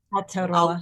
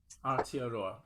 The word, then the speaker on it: Aotearoa: Fierce Hope, Youth Activism in help me with pronunciation. Aotearoa. Aotearoa. Aotearoa. Yeah. Aotearoa.